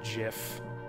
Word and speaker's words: GIF: gif or gif and apparently the inventor of the format says it's supposed to be pronounced Jiff so that's what